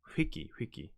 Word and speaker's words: Hiki: Oh, my name, Hiki. So you have to pronounce the H. Hiki.